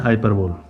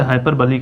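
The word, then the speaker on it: hyperbole: तो पेन है symbol wisdom का, नॉलेज का, जो कि है हाइपरबोल, जिसे हाइपरबली कहा जाता है। सही से एग्जैक्ट इसका जो प्रोनाउंसिएशन है हाइपरबली है।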